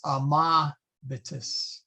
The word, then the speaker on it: amabitis: What you do is you jump to the vowel in front. If it is a short vowel, then we put the accent on the vowel in front. So amabimus. Same thing. These are short, so it's amabitis. And then this one, that one is long, so we put it on that one right there.